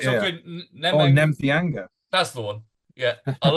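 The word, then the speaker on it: Nemtheanga: He pronounces his real surname. Yeah, no, that's fine. All right, Nemthianga.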